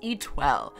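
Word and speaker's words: Étoile: hard to pronounce and it's pronounced e12 even the name just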